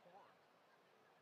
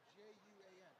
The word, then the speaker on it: Juan: First match will be Quan and Maxine. Quan? Quan and Maxine. Who's Quan? J-U-A-N. Quan. J-U-A-N. Quan. Spanish. Oh, Juan. Yeah.